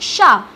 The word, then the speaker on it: chat: Here we won't read T because this is a consonant, and if we have consonant in the last of the word, we never pronounce it. So A will be isolated and it will be pronounced like sha.